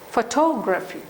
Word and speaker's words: photography: If you take photography, for photo, for a disyllabic word, stress is on the first syllable. But when it is a polysyllabic word, the stress changes. Okay, photography.